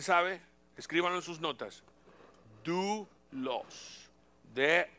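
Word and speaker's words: δοῦλος: palabra siervo en el griego Cómo Cómo se pronuncia alguien sabe escríbanlo en sus notas do los de o u l o s Yo sé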